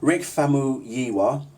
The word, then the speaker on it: Rick Famuyiwa: Rick Famuyiwa, okay, black dude who directed a film called Dope.